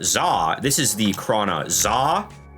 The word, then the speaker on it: Za: This is the Krana Za, spelled Z-A this time, not X-A. It is pronounced exactly the same way according to the wiki.